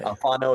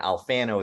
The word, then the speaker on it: Alfano: Alfano is how to say it in Italian. Alfano is how to say it down south.